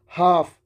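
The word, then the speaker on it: half: Knives हाफ। एफ से पहले L silent है।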